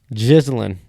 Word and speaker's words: Ghislaine: Ghislaine is how you pronounce it, really.